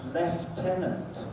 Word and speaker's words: lieutenant: You wouldn't believe it, it's pronounced lieutenant with an F. Lieutenant. Where's the F? Where the F is the F.